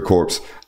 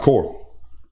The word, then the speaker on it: corps: You mentioned the wide receiver corpse. It is corpse. It's spelled corpse. C-O-R-P-S, but yeah. Pronounced core.